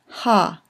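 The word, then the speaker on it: הַ: It means the, pronounced ha.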